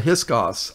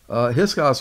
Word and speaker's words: Hyksos: They were called the Hyksos, I think. That's how you pronounce it.